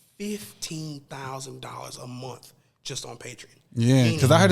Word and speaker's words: Patreon: Is Patreon? Am I saying it correctly? Patreon, yeah.